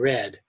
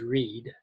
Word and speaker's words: read: Notice that read and read are spelled the same but pronounced differently. So the present tense is read, the past tense is read.